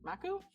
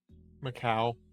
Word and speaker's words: Macau: sent to Shanghai and Maku Macau in Macau. Okay, it's spelled with a U at the end so I wasn't sure.